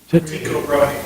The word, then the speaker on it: Tycho Brahe: I'm not sure exactly how it's pronounced. Does anybody know? Tycho Brahe.